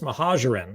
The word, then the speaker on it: Mohajerin: So our guest this evening is Mohajerin. It took me several takes to even pronounce his last name correctly.